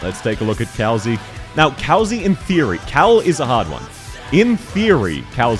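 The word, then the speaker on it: Kal'tsit: Kalzi, yeah, that's how her name's pronounced. I find it annoying as well. I used to call her Kaltzit, which was a bit... Which sounds better because that's how it reads, but it is actually pronounced Kalzi, from what I remember.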